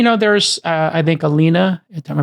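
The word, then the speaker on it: Alinea: tables obviously you know there's uh I think Alina am I pronouncing it correctly in Chicago Alia al Alia rather yes alenia um you know they sold tickets right essentially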